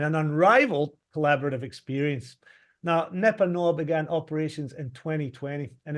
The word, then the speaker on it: Nepanoa: expert guidance and an unrivaled collaborative experience now NEPA Noah began operations in 2020 and his resources in